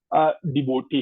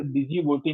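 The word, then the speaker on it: Djibouti: है वो, ठीक है, इसे डिजी बोटी ना कहिएगा, इसमें जो है वो साइलेंट है, ये हमारे पास जो है जे साइलेंट है।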